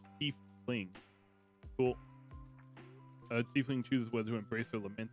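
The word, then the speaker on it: tiefling: ancestors who originated there a t fling pronounced thief fling cool uh steepling chooses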